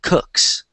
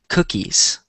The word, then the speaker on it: cookies: So one thing before we get into the articles, I noticed a lot of you guys said cooks, but the word is spelled like this, and it's pronounced cookies.